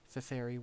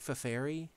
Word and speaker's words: Feferi: ever played the original either pronunciation of Feferi works. Okay, cool. I'll have to remember that one. I like Feferi just because it breaks up the name into three syllables, much like the others. It feels more uniform that way.